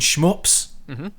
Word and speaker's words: shmup: So call it a shmup, 1 syllable.